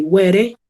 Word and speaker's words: were: We don't say were. We say were. We don't pronounce the E.